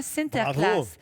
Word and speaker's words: Sinterklaas: De la bière, des armes bien sûr, mais leur Saint-Nicolas que eux prononcent comment ? Exactement. Sinterclass, c'est une grande tradition belge en fait.